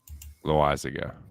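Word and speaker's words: Loáisiga: How do you pronounce his name? Max Muncy or Jonathan Loizaga? Loizaga.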